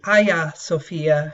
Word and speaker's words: Hagia Sophia: bit today about the Hagia Sophia or the aya Sophia as it's pronounced in Turkish this is a pretty